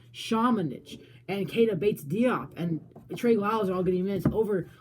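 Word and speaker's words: Šamanić: And I like to see guys like Luka Shamanich. That's how you say it. If you're a Luka Shamanich fan. I'm sorry. Not Samanich. Shamanich.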